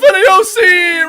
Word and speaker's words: Niosi: Hey, Christopher Niosi! Rhymes with ravioli!